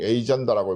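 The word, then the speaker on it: agenda: 보내줬는데 그 논문 제목이 아젠다 세팅, 에이전다라고 뭐 영어로는 발음합니다. 에이전다 세팅에 관한 얘기였어요.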